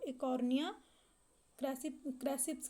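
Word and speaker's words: Eichhornia crassipes: तो जो आपका सही आंसर है वो है एकोर्निया क्रांसिपस। इसमें शायद मिसप्रिंट है, जो इसका सही उच्चारण है उसको एकोर्निया क्रैसिप्स कहते हैं, एकोर्निया क्रैसिप्स।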